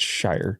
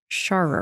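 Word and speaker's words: Sharar: It's Shire. Yeah. I'm pretty sure in the last episode you pronounced it Sher.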